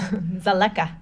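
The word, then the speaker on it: Dzaleka: water points were just completed at yeah Toby pronounced this Sulekha Sulekha refugee camp in Doha Malawi home to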